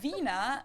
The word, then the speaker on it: Wiener: in German we say Vina the German W is pronounced like an English V and it usually refers